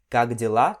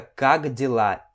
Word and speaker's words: как дела: Você pode ver que aqui a gente tem a letra K, mas na hora da pronúncia rápida, esse K meio que vira um G. Então fica как дела e não как дела.